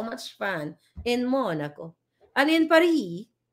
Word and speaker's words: Paris: fun in monaco an Par in par ba walang s ang bigkas pag nasa Paris ka Par I am being Parisian